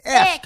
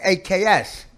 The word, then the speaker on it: ask: His few, whatever son that he You say X. axed. That's wrong. It's so frustrating. Ask. X. Ask. It's still X. How do you spell it? A-S-K. And you're saying AKS. Why don't you kiss my ass? Yeah, you can't. Yeah, just say ass and put a K at the end.